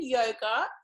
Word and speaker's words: yoga: begin by just explaining a little bit about yoga for those of you who are new to it um so within yoga there's um so the meaning of yoga or